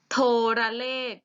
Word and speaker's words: โทรเลข: อะ กริ่ง เสียง ดัง และ โทรเลข อีก รอบ โทรเลข อ่าน ว่า โทรเลข โทรเลข เหมือน กัน ไม่ มี